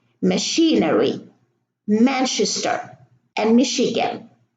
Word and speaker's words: Michigan: We have a CH here in machine, machinery, Manchester, and Michigan. So the CH, they are not pronounced cha, they are pronounced sha.